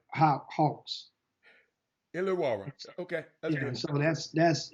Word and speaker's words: Illawarra: Illawarra Hawks. Illawarra.